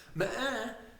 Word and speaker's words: meheh: who goes by meheh, which I believe is pronounced meheh, kind of like nah, only with an M instead.